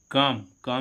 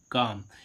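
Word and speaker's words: calm: सी ए एल एम काम means क्या होता है शांत अब इसको हम काल नहीं पड़ेंगे। क्या पढ़ेंगे? काम। एल का उच्चारण कैसा? एल का उच्चारण नहीं होगा।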